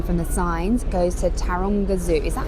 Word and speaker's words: Taronga: you can see from the signs, goes to Taranga Zoo. Is that how you say it? Tanga. Let me just check that I'm saying that right because Tonga. Yeah, Taranga Zoo.